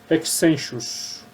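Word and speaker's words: Hexenschuss: A pronúncia exata é Hexenchus ou Hexescud. Isso é Hexenchus na Alemanha, e na Dinamarca é chamada de Hexescud.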